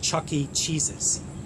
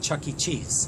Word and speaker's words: Chuck E. Cheese's: It's called Chuck E. Cheese's, not Chuck E. Cheese.